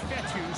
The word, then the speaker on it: Fetu: So Coach Fetu, spelled F-E-T-U. For the longest time, I was pronouncing it Coach Feta, like feta cheese.